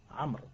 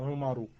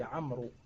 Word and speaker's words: عمرو: عمرو il y a le waouh à la fin. Amr, on dit Amr. Pas Umaru.